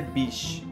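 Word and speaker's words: biche: fêmea do veado e que em francês se pronuncia bich acredita-se que esse termo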